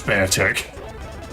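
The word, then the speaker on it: Beartic: I call it beer tick because just of the way it's spelled. I know it's bear tick. It's a It's a bear tick.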